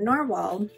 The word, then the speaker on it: Nahvalur: to say is that narwhal or it's now it's spelled novelore but narwhal have just actually released